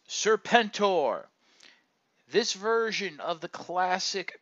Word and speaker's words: Serpentor: the Transformers collectors club is serpent o more commonly pronounced serpentor this version of the